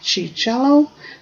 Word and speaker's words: Ciarciello: And first we have Mike Cicello, that's spelled Ciarciello.